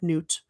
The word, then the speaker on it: Nut: It is spelled like nut. It's pronounced like noot.